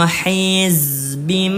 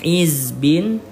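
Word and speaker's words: حِزْبٍ: Kullu hizbim bima ladaihim. Ya. Jadi yang awalnya dibaca hizbin hizbin berubah menjadi hizbim bima ladaihim.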